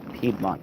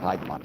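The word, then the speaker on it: Piedmont: middle of the city I never know how to pronounce it I think it's pedmont Park and not Pont Park but we're at the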